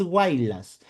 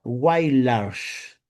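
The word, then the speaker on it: Huaylas: En sí, Mari Carmen se pronuncia, no es Guaylas, se pronuncia Guaylars.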